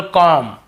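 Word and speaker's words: comb: उच्चारण करते लेकिन देखिए एम के बाद यदि बी है तो हमें बी को नहीं पढ़ना केवल कॉम यहां पर भी बी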